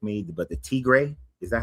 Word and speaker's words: Tigray: during and you can correct me, but the Tigray, is that how you say it? Tigray War?